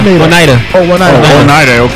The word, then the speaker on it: Oneida: Oneida. I don't want to say his name. Right. Oh, yeah. Oneida, like the silverware.